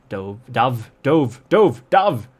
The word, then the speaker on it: Dove: Dove, that's how you say it. It's a homograph. It's spelled the same, but it doesn't sound the same."